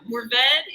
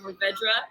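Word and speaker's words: Mourvèdre: Yeah, it kind of depends on where you are. It's Mourvedre is what I go with, but I hear a lot of Mourvedre, and both ways are correct.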